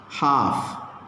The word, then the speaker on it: half: Half. L is silent.